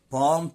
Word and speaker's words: palm: surround يحيط بي، date palm trees، طبعا ال هنا silent، تبقى palm trees يعني